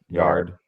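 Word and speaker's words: Yarde: And I still don't know the proper pronunciation. It's yard. I've I heard, is actually the messed. Yard? Yeah, it is yard. I thought Okay. I thought it was yard A too. I thought it was yard A. Okay. But it's yard.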